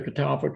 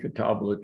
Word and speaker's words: catalpa: The catalpa tree, catabla tree, different pronunciations.